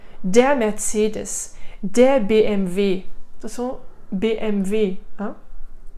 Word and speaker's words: BMW: Attention, BMW, hein? Le W, en allemand ça se dit V, revois ma vidéo sur la prononciation.